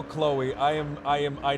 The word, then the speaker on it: Chloe: CH that's chy that's Chloe the H is silent the H makes a k sound let's go to Grime